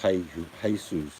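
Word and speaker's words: Jesús: It's pronounced Jesus.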